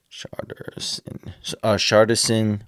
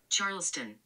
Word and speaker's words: Charleston: Charterson White. How to say his name? My bad. How to say it? Charleston. Charleston, there we go.